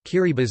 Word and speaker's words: Kiribati: of the tongue guru or Gilbert's chain the pronunciation differs key Reba's as the official pronunciation as T in the